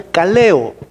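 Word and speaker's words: καλέω: palabra que viene que que se pronuncia caleo, pero aquí es cletos, es llamado.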